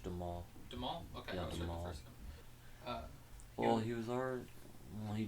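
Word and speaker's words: Duhamel: father played by josh de mal or how do you pronounce it do a mill it's josh de maul well he was our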